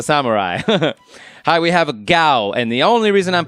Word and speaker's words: Gau: He pronounced it Gao, which I thought was kind of funny. But according to Japan, it's pronounced Gao.